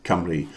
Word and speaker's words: Cymru: Susie Perry, 23 out of 30, Wales in Welsh, pronounced C for cat, Cymru.